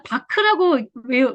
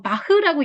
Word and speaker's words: Bach: 그래서 바크라고 말씀하시는 분도 있고 바흐라고 얘기하시는 분들도 있고 배치라고 읽는 분들도 있는데 같은 단어예요.